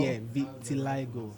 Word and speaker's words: vitiligo: Yeah, vitiligo. That's the right pronunciation.